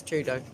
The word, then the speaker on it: Trudeau: hi get a grip it's trudeau obviously and it is trudeau if you know what i mean true though okay hopefully not whoever